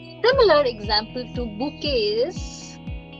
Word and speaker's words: bouquet: Had it been an English word, we would have said bouet. But it is not an English word. It's borrowed from French, which is why it's pronounced as bouquet. So the most important rule is you must you must notice we are not pronouncing the last letter.